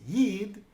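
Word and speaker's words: ייִד: hard and fast rules this word is pronounced yid but the language is Yiddish model sometimes I see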